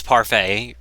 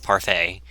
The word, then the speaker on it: Parfait: admiring parfait girls and it's not part of it it's parfait I swear if somebody I swear is not pronounce Parfitt it's parfait it's a series I've